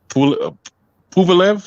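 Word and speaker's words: Pulev: his last fight with uh pupalev that's how you say his name yeah who left who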